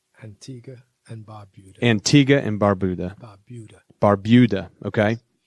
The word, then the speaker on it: Antigua and Barbuda: Pronounce that right? Antigua and Barbuda.